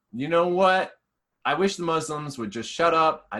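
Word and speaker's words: Muzlimz: We're on the internet under the Muslims, mostly everywhere, but we spell it with two Z's. M-U-Z, the M-U-Z-L-I-M-Z for our handles. But it's pronounced the Muslims, not the Muslims.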